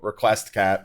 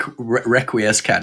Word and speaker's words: Requiescat: pronounce as India's requiescat no no it's not wreck requiescat its request cat yeah I'm sorry request